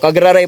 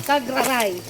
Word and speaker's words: Cagraray: po pumupunta rito so cagraray po ang tamang pronounciation cagraray cagraray Island Hindi ko